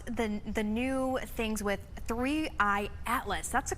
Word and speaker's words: 3I/ATLAS: But let's talk about the the new things with three Atlas. That's the correct way to pronounce it, correct?